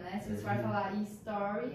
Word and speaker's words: story: vejo muita gente falando history, gente. Não falam history vem da história, né? Se você for falar story, é um fato, né? Enfim, então já fica aí a dica. Começa com S.